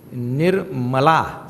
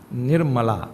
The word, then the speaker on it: Nirmala: The name is Nirmala. Say? Nirmala, not Nirmala.